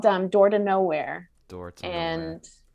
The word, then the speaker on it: Knowhere: called dumb door to nowhere and it's it's spelled k-n-o-w and then here so like no here perfect well yeah that's